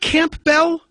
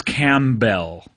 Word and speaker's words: Campbell: guest on this episode is it not Camp Bell it's written like Camp Town ladies right but a bell instead of town ladies right yeah that's how I remember how to spell it for sure right but it's cam Bell cam camell by the